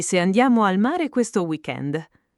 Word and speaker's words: weekend: Per esempio, a Pasqua abbiamo un weekend lungo, pensavo di andare in montagna. Attenzione, in italiano spesso usiamo parole inglesi come weekend, ma con l'accento italiano.